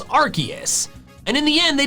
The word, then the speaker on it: Arceus: The official pronunciation is arceus. Arceus. Which is what I say. In case you're confused, it used to be Arceus, but then they changed it to arceus because Arceus includes arse, which is how the British